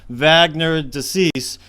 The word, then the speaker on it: Wagner de Assis: His name is pronounced Wagner de Assis, and we here in the United States might say Wagner, but I'm going to call him Wagner. That's the way they say it down there.